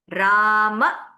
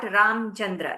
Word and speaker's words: Ramachandra: This will be Ramachandra, not Ramchandra. It is Ramachandra because you have an akara here.